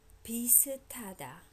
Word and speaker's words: 비슷하다: 비슷하다. 비슷하다. S and 하, because when it's the last sound in the syllable, it becomes t. And the t and ha together becomes totally aspirated.